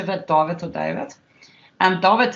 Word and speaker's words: David: David is pronounced Afrikaans, by the way, because I'm Afrikaans.